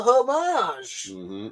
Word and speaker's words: homage: You go the French way with this?